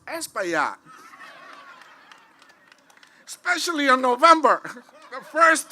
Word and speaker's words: Espaillat: And if you can pronounce esplanade, you can pronounce Espaillat.